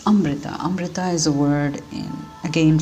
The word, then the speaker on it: Amrita: It's Amrita. Amrita is a word again from the Sanskrit language, which literally means nectar or immortality drink. So again, I'd like to clarify the actual pronunciation. It's Amrita.